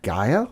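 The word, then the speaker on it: G'iah: her Instagram today uh Gaia I think is how you say it yeah g apostrophe IAH yeah and his tallest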